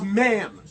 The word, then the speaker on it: NAMM: Buckethead actually didn't use this until the 2011 NAMM convention, or NAMM, however you guys pronounce it. Excuse me, it's ma'am. It is ma'am.